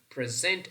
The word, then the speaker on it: present: However, the only difference between the two is present is functioning as a verb, the stress pattern is on the second syllable. But present is functioning as a noun and the stress pattern is on the first syllable.